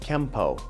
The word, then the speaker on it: Kenpo: Japanese it becomes Kenpo now in the rules of kanji when a character ends with the letter n it will be pronounced with the end sound unless it's followed by a character that starts with P and that instance the N makes an M sound so technically speaking it should be spelled Kenpo but pronounced Kempo now through romanization you